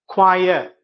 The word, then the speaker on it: choir: उसके बाद आप देख सकते हैं CHOIR, यहाँ पे जो CH है, देखिए यहाँ पे हम कैसे इसका उच्चारण करते हैं, क्वायर क्वायर, ठीक है, और CHAIR उसको हम कहते हैं चेयर। देखिए दोनों सेम स्पेलिंग है, परंतु उच्चारण विधि में हम देख रहे हैं कि एक क्वायर हो रहा है, क साउंड आ रहा है, और दूसरे में च